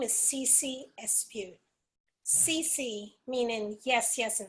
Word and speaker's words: Espeut: means yes yes yeah my last name is me well it's pronounced s pew and French comes from it's